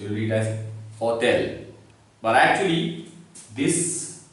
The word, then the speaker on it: hôtel: So without this accent, it is hotel, but with this accent, it is hotel. Oh, hotel is a bit wrong.